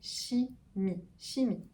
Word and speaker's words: chimie: Alors attention, CH en français, en général, ça fait ch. Il y a des exceptions. Ici, on va bien prononcer chimie. La chimie.